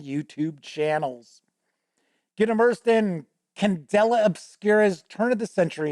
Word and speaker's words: Candela: has released the free quick start guide for candelera or no I'm sorry it's Candela I should say I've always been trying to